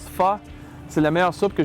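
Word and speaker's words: phở: Le pho, ça se prononce pho, c'est la meilleure soupe que j'ai jamais mangée, puis c'est un produit du Vietnam.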